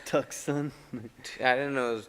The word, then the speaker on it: Tucson: Yeah, is that Tuscan? How do you say it? Tucson.